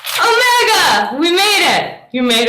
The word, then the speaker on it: omega: half the line um omega is a long o sound so remember they sound like how you pronounce them oh mega makes no sound like ocean or tone this is omega sigma